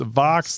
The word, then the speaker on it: Vox: not the answer um it is pronounced Vox like Fox and minina like makina